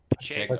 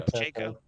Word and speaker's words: Pacheco: Pacheco. Pacheco.